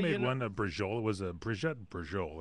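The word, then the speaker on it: braciola: I don't like brajol. That's how you pronounce Yeah, it.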